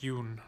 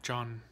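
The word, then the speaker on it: Jon: And yes, it's pronounced Yoon, not John.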